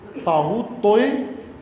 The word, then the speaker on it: طاغوت: طاغوت توئے تین، اس کا صحیح نام ہے تین. توئے ویسے رائج ہو گیا ہے اس کا نام، اصل اس کا نام ہے تین زین. تا زبان کو تالو کے ساتھ لگائیں اور پھر اس کو تلفظ کریں تو ہوتا ہے تا.